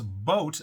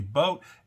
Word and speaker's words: Boat: Now, customer data for over 7.5 million Boat, and it is spelled boat like I'm going to take a boat out on the river, customers have basically appeared on the dark web, 7.5 million.